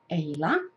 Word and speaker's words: Eila: My name is Eila. It rhymes with Layla, just like Eric Clapton's song.